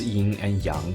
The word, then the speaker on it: yin and yang: stem from chinese philosophy yes that's how you pronounce yin and yang properly if i hear more yin and yang i will call you out for being insensitive and disrespectful to my culture feng shui is mostly